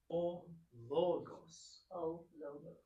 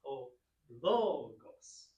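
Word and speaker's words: ὁ λόγος: But so Nancy, this would be pronounced O-logos. Excellent. And the accent is on the O, so it's O-logos.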